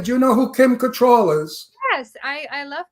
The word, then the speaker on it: Cattrall: so too I think her name is pronounced control yeah not control people say control but it's control okay Kim Cattrall anyway